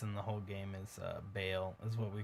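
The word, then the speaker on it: Baal: boss in the whole game is Bale, is what we call him. It's spelled the same way, but pronounced differently because they just pronounced it Ball.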